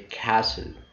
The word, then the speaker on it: castle: Castle, not castle. You say castle.